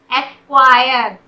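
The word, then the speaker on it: acquire: एक्वायर, यहाँ पर भी सी का साउंड नहीं हो रहा। एक, सी का एक क्यू का साउंड हो रहा है, ए के बाद सी यहाँ पर साइलेंट हो गया।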